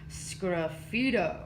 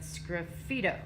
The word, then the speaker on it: sgraffito: am going to write my favorite word to say scruffy toe it is spelled very very weird but scruffy toe okay so make sure